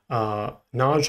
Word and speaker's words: Knoji: You can go here to this site here, Naj, I think it's how, that's how it's pronounced.